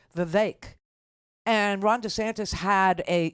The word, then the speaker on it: Vivek: hard part no no it's the vivec part that's hard because there's an e in it right but they're saying it rhymes with cake the vague and Ron DeSantis had